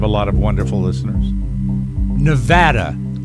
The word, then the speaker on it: Nevada: lot of wonderful listeners Nevada Nevada as they pronounce it not Nevada Nevada is um we